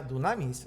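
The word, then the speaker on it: δύναμις: Poder viene siendo, aunque se escribe dinamis, se pronuncia dunamis, ¿verdad? Dunamis. Esa es la palabra griega, poder.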